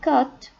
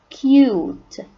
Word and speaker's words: cute: long u sound so we don't say cut or cut no cute cute and this object here